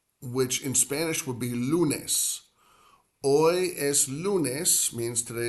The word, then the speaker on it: lunes: Two syllables. Lunes. Lunes. Like saying the word Lou for someone named Lou, and then nes, which is almost like saying the word nest without the S.